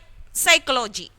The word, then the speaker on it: psychology: n here and here psychology psychology p s y c then you are saying see the first letter is p itself and we are not pronouncing p we are just saying psychology isn't it we are